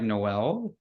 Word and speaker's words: Noel: Yeah, it's actually pronounced um like Christmas, like Noel.